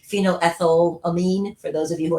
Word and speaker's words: phenylethylamine: noir after the north epinephrine epinephrine and this phenylethylamine i'm always so terrible at pronouncing these words i'm just going to call it pea as they move forward but it's phenoethyl amine for those of you who are science-y people